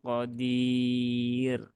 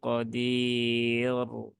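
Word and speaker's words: قدير: membaca dengan sukun Ya kalau dibaca sukun maka rnya ini kan dia jadi sukun maka dia dibaca tipis ya bukan tebal Tapi kalau ini tidak wakaf maka rnya dibaca tebal Nah jadi kalau ada ro sukun maka dilihat ya dia berhubungan dengan ee harakat apa sebelumnyaah ya di sini setelah sebelum ee ro sukun ya sebelumnya ada Ya Sukun nah sehingga dia dibaca pipis ee syaaiin Qodir bukan syaaiin Qodir Nah kalau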